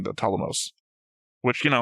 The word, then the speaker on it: Ptolemaios: Where I'm I've gotten used to saying the Ptolemaios. Which, you know, I used to pronounce the P, so at least I'm making progress. Yeah, Ptolemaios.